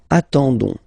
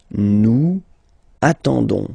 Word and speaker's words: attendons: and then we've got the classic ending for nous, so ons, okay, you don't pronounce the s, so you get only this on sound, okay. Attendons, nous attendons, so we'll make the link between the two, la liaison.